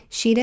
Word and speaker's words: Shideh: Connect with her on LinkedIn or Instagram at Sheeta Shafi to learn more. Sheeta is spelled Shideh, and Shafi is spelled Shafie.